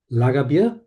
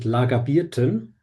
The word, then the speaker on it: Lagerbier: We have Wiener Schnitzel, Viennese Schnitzel, Lagerbier, he pronounced it Lagerbierten, and sauerkraut.